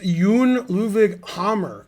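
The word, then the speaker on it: Jon Ludvig Hammer: hard to know what's hammer's name is actually pronounced yoon luvig hammer not hammer so yeah it's not as funny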